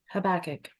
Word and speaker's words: Habakkuk: According to the Zohar, that child becomes Habakkuk Hanavi. I don't know how you say this, the prophet Habakkuk, whatever you call him. Teresa, can you unmute yourself so I can hear how you pronounce it? Habakkuk.